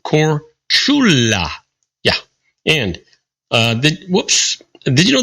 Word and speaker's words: Korčula: Did you know that Marco Polo was born on the Croatian island or Korčula, pronounced Korčula?